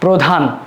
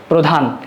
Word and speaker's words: প্রধান: শব্দের শুরুতে যদি আদ্য এর শুরুতে যদি এখানে র ফলা যুক্ত থাকে সেই উচ্চারণটা উ এর মত হয়ে থাকে।